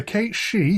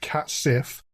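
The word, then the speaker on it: cat sìth: the country's fairy cats the Kate she what looks like it should be pronounced cats Sith have the appearance of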